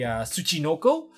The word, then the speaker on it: Tsuchinoko: from this as for the level 3 the Tsuchinoko which is the proper pronunciation for this this particular monster regardless of